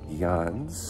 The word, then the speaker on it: Llanes: are have got a 23 K day to Yan which I've told been told that's how you